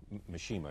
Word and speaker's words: Mishima: you come back sometime uh I love nishima Mishima is the correct pronunciation because I was always fascinated by him